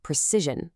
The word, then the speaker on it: precision: Precision, a noun. Notice the soft Z sound in the middle, precision.